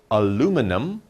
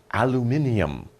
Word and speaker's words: aluminium: it but just remember Americans will say aluminum British people will say aluminium okay so depending on